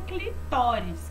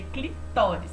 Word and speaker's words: clitóris: e a gente tem o clitóris que não é clitóris é clitóris tá bom atendendo ó então é assim que a gente pronuncia corretamente o clitóris ele é um